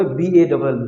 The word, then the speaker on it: ball: এই যে দেখেন এ বর্ণটি যখন ডাবল এল এর আগে আসে, এ বর্ণটি যখন ডাবল এল এর আগে আসে, ওকে, তখন কিন্তু এর উচ্চারণটা ও হয়ে যায়, অনেকটা ওকারের মতো, রাইট?